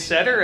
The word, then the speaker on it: Setter: All right, I'm Setter, and you can remember how to pronounce my last name because it's like Irish Setter.